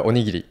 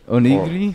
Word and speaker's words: onigiri: Oh, the onigiri. How do you say it? Onigiri. Onigiri?